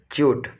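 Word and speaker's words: chute: आप लोग chemical engineering के हो तो आप क्या करोगे, इसको सही प्रोनाउंसिएशन करोगे, दिस इज ए च्यूट, है ना, ओके।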